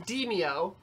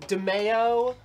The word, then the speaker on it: Demeo: entering the team verse getting deemed it is pronounced dimio the lady in the in the uh yeah tutorial says Dinio yeah because we were like is it demaio give me DeMayo hey give me DeMayo that's